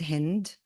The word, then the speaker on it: Hind: When I explain my name to Americans, because people can't really pronounce it easily, I say like wind with an H. That's how I say my name. So this poem for Hind Rajab is called Like Wind with an H.